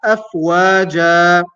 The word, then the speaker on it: أفواجا: But since we're stopping there, we pronounce it as afwaja.